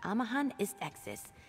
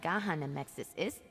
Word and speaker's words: Amahan Istexis: It's Amahan Istexis, not Gahan Amexis Ist.